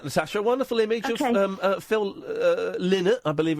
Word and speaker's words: Phil Lynott: A wonderful image of Phil Lynott, I believe it's pronounced, with poo on his pants.